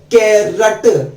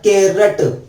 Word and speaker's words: carrot: कैरट, double R आता है, कैरट, CARROT। वैसे कई लोग इसको कैरोट भी बोलते हैं, लेकिन नहीं, इंग्लिश में इसका असली प्रोनाउंसिएशन कैरट होता है।